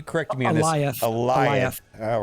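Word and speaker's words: Alioth: Eliot. All right. I was going to say Aeolith or something, but Eliot.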